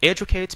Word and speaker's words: educate: To educate because the stress is on E. That's the reason why I read educate, okay?